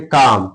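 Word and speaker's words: calm: जैसे काम सी एल एम काम एल इसका क्या है? साइलेंट है।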